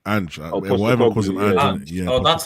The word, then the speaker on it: Ange: Whatever calls him Ange.